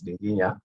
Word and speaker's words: Dinginya: much um joanna um you got it very right it's as clear as i would pronounce it here for myself as well i'm dr dinginya um and um thanks